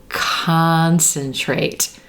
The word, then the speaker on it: concentrate: relaxed ah olive sock concentrate so when that c-o-n that first syllable is the stressed syllable we're gonna hear olive sock ah let's try it in